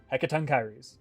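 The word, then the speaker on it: Hekatonkheires: theirs who could explain how to say hekaton kyries but that is that is how you say that word heckaton kyries fearsome creatures who were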